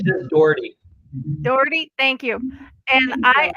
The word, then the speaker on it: Daughrity: Dougherty? Dougherty? How do I say it properly? It's just Daughrity.